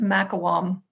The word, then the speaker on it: McIlquham: That's pronounced Mcilquham.